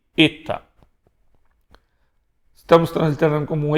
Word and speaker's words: eta: Na pronúncia erasmiana costuma se pronunciar e, eta.